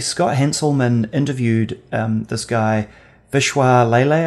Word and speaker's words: Vishwas Lele: One in particular that I thought was really interesting, and actually Scott Hanselman interviewed this guy, Vishwas Lele, I think is the way you pronounce his name.